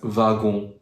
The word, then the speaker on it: wagon: actually not native French so we pronounce it just like V for example the word wagon we pronounce it as vagon so you pronounce it just like like if we wrote it with v instead of w and the last interesting